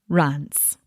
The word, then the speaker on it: Reims: If you've never heard it pronounced, evidently the correct pronunciation of that city in France is actually Reims. Reims. Is that right? I hope I'm right. The EI is said like a short A, and then you don't say the M.